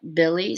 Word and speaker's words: Bille: You can message me, Mira Rubin, or message Scott Billy, spelled Scott. His last name is spelled Bille, not IE.